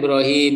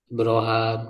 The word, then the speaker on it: Ibrahim: Sama kayak Ibrahim misalnya ada yang membaca Ibraham gitu ya dalam pembacaan itu perbedaan cara ee membacanya itu bisa dirujuk ya dalam ee ilmu qiraatnya.